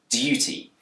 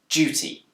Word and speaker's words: duty: In Britain, this word can be pronounced with a d sound, duty. But it's also commonly pronounced with a j sound, duty.